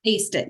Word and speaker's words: ACED IT: Is it AC? Like I aced the course? Aced it.